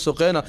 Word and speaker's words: سقینہ: صرف ایک جملہ یہاں، حضرت سقینہ سلام علیہا، جن کو سکینہ بھی سکینہ کہا جاتا ہے، اصل تلفظ سقینہ سلام علیہا کا، ایک بات رکھنا چاہوں گا.